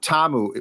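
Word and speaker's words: Ta'amu: pronunciation of his name I heard tiamu I heard TAMU which I think is correct yeah TAMU which I believe is the correct one well-traveled uh quarterback has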